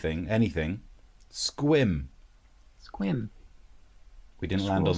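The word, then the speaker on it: Sequim: Have you been to Squam? Squim. It's Squim.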